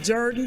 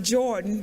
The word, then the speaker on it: Jordan: today to have a group of students from Jordan High School in Columbus Georgia uh you might pronounce it Jordan but in Columbus we pronounce it Jordan uh